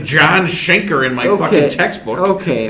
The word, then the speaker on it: Schenker: Just listen to some Michael Schechner. Okay, you know what? I was 13. I was 13. I was 13, Dad. All right. It's not like I ever heard anybody say Schenker in an interview.